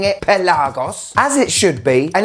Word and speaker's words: Pelagos: diver a lot of YouTubers out there are pronouncing it pelagos which just makes me think of a pelican